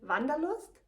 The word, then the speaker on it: Wanderlust: This word, Wanderlust, is pronounced in German Wanderlust, and it means the desire to travel.